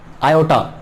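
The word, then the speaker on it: iota: I square equals to -1, आयोटा, so pronounce क्या कहते हैं?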